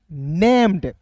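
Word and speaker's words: named: ए एम ई डी नेम्ड देखिए दोस्त यहां पे एन ए एम ई रहता तो इसे पढ़ते नेम लेकिन यहां पे इ डी है तो इससे क्या पढ़ेंगे दोस्तों नेम्ड फिर देखिए एल आई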